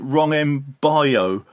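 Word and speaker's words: Wrong 'Em Boyo: They called it Wrong Way Boyo, or Wrong and Boyo. This is the original from a ska band called The Rulers, and they pronounce it Wrong M Boyo.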